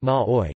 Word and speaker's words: Māori: The Maori language, also known as Te Reo Maori, pronounced Ma'oi, Te Io Ma'oi, or simply Te Reo, the language, has the status of an official language.